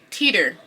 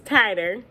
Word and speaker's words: titer: But future me here wanted to say, I know how to say the word. It's tighter. Yeah, tighter.